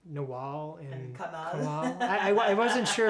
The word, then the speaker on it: Nawal: And in Arabic my name is spelled N W L, Nawal. Nawal. Yeah. So, when you hear an Arab say it, it sounds different. Okay, we say it differently. Yeah. Nawal and they curl the L around.